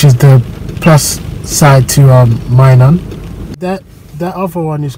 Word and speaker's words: Minun: Minun, I was pronouncing it. Minun is the correct way now.